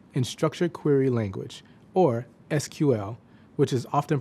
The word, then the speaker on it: SQL: of them, spreadsheets and structured query language, or SQL, which is often pronounced SQL.